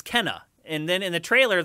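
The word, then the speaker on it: Kena: uhuh in the trailer Sony called it Kina and the developers are like no it's Kenna so everyone was saying it right all along Sony just confused people whenever they said it wrong in that phrase I thought that was the other way around because I've always said Kina no that's incorrect it's Kenna is the correct way to say it but anyway um so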